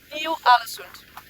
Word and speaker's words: Ny-Ålesund: What's the good pronunciation of that? Yes, alright. It's alright, okay. So Ny-Ålesund is Ny-Ålesund.